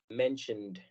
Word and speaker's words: mentioned: Pero cuando lo queremos cambiar al pasado, agregamos una ED que no suena completo, sino únicamente se pronuncia la D. Así que a la palabra mention tenemos que agregar el sonido D al final. Mentioned.